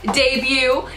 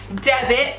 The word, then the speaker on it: debut: experience that makes this debut. You guys don't need to make fun of me for saying debit. I know I said it wrong.